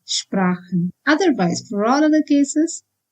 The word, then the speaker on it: Sprachen: If ch is preceded by either a or o or u, then it is pronounced as h, like in Sprachen. Sprachen means languages. Here ch is preceded by a, and that's why it is Sprachen.